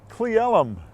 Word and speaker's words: Cle Elum: That is pronounced Cle Elum.